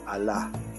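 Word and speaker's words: الله: y esta es gay por lo tanto se pronuncia a la entonces esto de aquí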